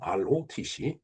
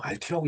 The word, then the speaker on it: ROTC: Rotc. 예. 어, 통상적으로 뭐 RT라고 얘기하는 사람도 있고 그다음에 뭐 R로라고 얘기하는 사람도 있어요. 근데 저는 그 두 발음을 다 멀리 합니다. 명확한 건 ROTC예요.